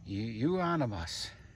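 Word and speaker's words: euonymus: Yeah, you that's a rhymes with you. You on the bus. You onus.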